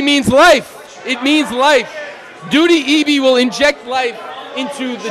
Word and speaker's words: Ndudi Ebi: I'm sorry, we've been pronouncing his name wrong. Where's the first? It's Ndudi Eby.